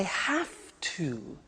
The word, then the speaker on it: have to: Now, did you hear my pronunciation? I have to. Notice I don't say V, I say F. Have. It becomes have to. Have to becomes in pronunciation have to.